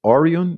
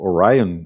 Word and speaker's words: Orion: Tem a nave espacial Orion, ou Orion, né, se a gente for pronunciar em inglês, que é essa parte